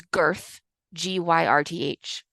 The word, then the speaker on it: Gyrth: There's Girth, Gyrth. And there's Leofsven, which is Leofwine. I have no idea how to pronounce that.